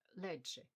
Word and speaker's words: leite: on the screen now the Brazilian pronunciation is something like ledge sounds a little like leche in Spanish the Portuguese has a hint of the Italian about it let however overall I think